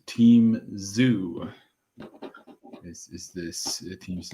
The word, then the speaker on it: Zhu: It is kind of Zhu.